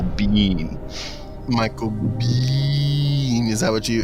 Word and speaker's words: Biehn: I'm gonna have to correct your pronunciation as well it's Michael Biehn Michael is that what